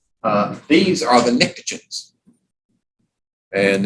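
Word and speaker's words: pnictogens: name these are the nicotins and it starts with a P but the p is silent kind of like my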